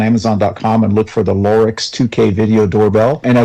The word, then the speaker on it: Lorex: discovered one called the lorx l o r ex oh this isn't The Lorax which is a doctor something different not the doctor yeah exactly that's why I wanted to spell it but loric interestingly enough is also